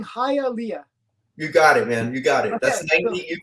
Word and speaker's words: Hialeah: you're pretty much 99 of Hialeah I'm saying hi Alia you got it man you got it you